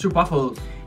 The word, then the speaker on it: stroopwafel: No, you pronounced it wrong. It's waffles. Oh, on here it says Stroopwafel. It's Stroopwafel.